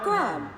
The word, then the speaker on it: Graham: It's like a two syllable. Graham. Cat. Graham. There's almost like a Y in there.